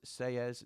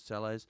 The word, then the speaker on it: Selles: So, Portugal Blade says his name is pronounced Selles, not Selles.